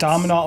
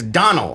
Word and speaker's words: Domhnall: Dominal.